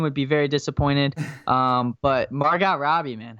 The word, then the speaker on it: Margot: But Margot Robbie, man, how did I forget about her? Well, how do you pronounce her name wrong? It's Margot. You just said Margot.